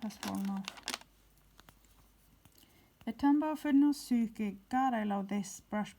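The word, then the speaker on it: Fudenosuke: It's not Tombow Fudnosuke. It's Tombow Fudnosuke. It's Tombow Fudnosuke. Is it possible to read on camera? Fudnosuke. Suke, not nauske, but suke.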